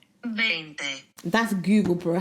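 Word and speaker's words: veinte: In Spanish, you don't pronounce the V, you pronounce it as a B. 20.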